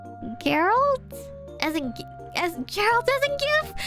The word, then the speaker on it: Geralt: I keep switching between Gerald and Geralt, and now I'm confusing myself every time I say his name.